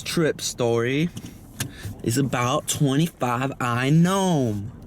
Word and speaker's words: NBOMe: And this trip story is about 25i gnome. I think that's how you say it, gnome. There's a silent B, because I'm not going to say nbome.